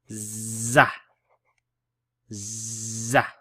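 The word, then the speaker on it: ز: top it's actually pronounced za za okay so this aura is no longer a row the dot on top makes it pronounced as a Z Z so da da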